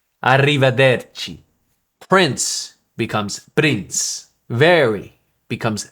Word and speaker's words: arrivederci: For example, arrivederci, arrivederci.